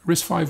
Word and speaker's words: RISC-V: name is pronounced risk5 as it represents the fifth generation of risk design from uc berkeley dave patterson coined the